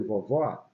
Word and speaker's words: vovó: fechado você vovô caratê então repare quando eu falo vovô e vovó tá vovó acento agudo timbre aberto vovô assento circunflexo ele tem um timbre fechado então gravem bem essa